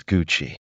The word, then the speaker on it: Gucci: The correct pronunciation of this word is Gucci. The key here is that the G sound is soft, not hard.